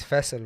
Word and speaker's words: Faisal: name and it's because in urdu my name is faisal right like that's the way to pronounce it and so like the